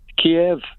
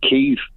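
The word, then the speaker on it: Kyiv: screen and calls it cave they're taking their lead from fox news no they're not they're taking the lead from how the ukrainians pronounce their own capital city the ukrainians have called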